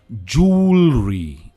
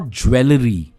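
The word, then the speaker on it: jewellery: हम पहनते हैं जूलरी, जूलरी एंड नॉट ज्वेलरी, इट्स जूलरी। ये बहुत ज्यादा मिसप्रोनाउंस वर्ड है, right? It's नॉट ज्वेलरी, इट्स जूलरी, जूलरी, जूलरी।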